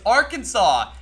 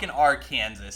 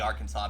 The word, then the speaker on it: Arkansas: I don't know no it's pronounced differently it's Arkansas it's are Kansas stop it no it's legitimately Arkansas but still wait then why is Kansas not